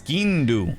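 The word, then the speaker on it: sgian dubh: It's skindu.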